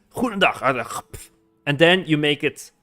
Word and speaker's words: goedendag: Because if you have like the word goedendag, for example, goedendag, you hear the extreme G, or vliegtuig.